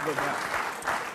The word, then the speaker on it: Vivek: Yeah, maybe no, it is Vivek because I heard him do a rap and he said it rhymes with cake.